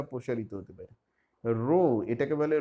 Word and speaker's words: rho: রো, এটাকে বলে রো, এটা একটা গ্রিক অ্যালফাবেট, RHO, বাংলা উচ্চারণ রয়কার।